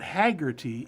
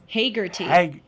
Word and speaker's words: Hagerty: No, it's not Haggerty. It's Hagerty.